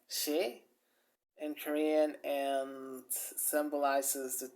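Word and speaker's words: 사: And you know, they had this tradition of the number four, which actually is pronounced she in Korean and symbolizes the death.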